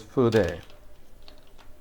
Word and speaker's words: 筆: The Japanese pronunciation is fude.